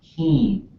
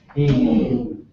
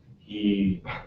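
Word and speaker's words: héen: to say it, but she says low tone. Heen. So we would say high tone. Heen. So it's a long vowel. We really make them long, really high.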